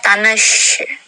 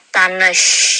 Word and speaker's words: Tanış: Jadi ini seperti sya gitu ya, ada y-nya di sana, Makanya dibacanya tanesh gitu, bukan tanes tapi Tanış ya. Kita ucap bersama tanış. Oke. Dan ini i-nya yang tidak pakai titik, jadi dia bacanya e.